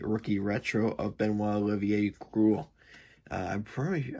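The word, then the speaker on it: Groulx: retro of benoit olivier cruel i'm probably i'm pretty sure it's pronounced like gruel like growl um growl rival sorry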